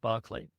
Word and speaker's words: Berkeley: The story concerns a woman who lives in the town of Barkley. In English, it's spelled Berkeley, but in English it's pronounced Barkley.